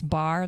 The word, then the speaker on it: barre: And her and I kind of launched a thing together called Bar Fitness.